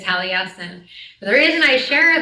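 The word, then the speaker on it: Taliesin: But when I was first learning his stories, I think I mispronounced his name for about three or four years. And so when I connect with him, that is my loving nickname for him, Talison. And I share this his proper pronunciation is Talesin.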